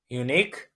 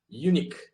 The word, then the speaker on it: unique: words that you don't want to, you know, mispronounce, yeah. Okay, what about this one? Unique. Okay. So you said it right that time. Uh in the test you said unique.